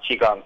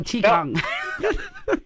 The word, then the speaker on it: Qigong: It's pronounced Qigong. Oh, Qigong. Good. Okay. It's spelled differently depending on how you Romanize the Chinese, but it's always pronounced Qigong.